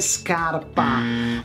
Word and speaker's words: scarpa: I know, my English-speaking friends, life is hard when you want a sciarpa and not a scarpa.